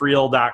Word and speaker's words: Friel: go to cheat sheet dot real calm and people are gonna screw up my